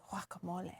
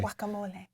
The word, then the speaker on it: guacamole: mean guacamole yeah yeah it's actually guacamole you're right gua is supposed to be pronounced like a w usually guacamole you butcher that and